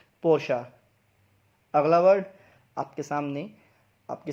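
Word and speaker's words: Porsche: तो इसकी सही प्रोनाउंसिएशन क्या है, पोर्शा।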